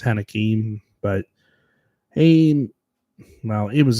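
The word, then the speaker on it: Heinicke: and interception and Taylor heniki or hanek I think it's pronounced haneke but he well he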